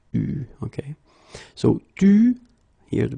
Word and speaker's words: eu: Okay, you write it like that, but you pronounce it eu. Okay. So, tu, here the participe passé, eu, and then plus.